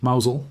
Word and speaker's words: Mousehole: To the east, it connects to Logan Rock and the fishing village of Mousehole, which is pronounced Mauzel by locals, as any visitor who says it phonetically will quickly discover.